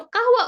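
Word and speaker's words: قهوة: numbers you can write it's like almost same as Q so you can say Kawa but again like I would advise you to just like try and pronounce things like correctly how they are okay so kaahwa over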